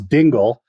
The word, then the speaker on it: Dingle: Charles Dingle is the brother, not Dangle, Lieutenant Dangle there.